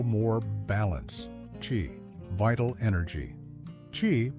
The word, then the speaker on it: qi: Qi, pronounced qi, is the vital life force energy that flows through all living things, according to Chinese philosophy, not just Taoism.